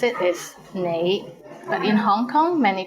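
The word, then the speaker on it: 你: is the word you the right way to pronounce it is nai but in hong kong many people pronounce it as lei how was it pretty interesting right do you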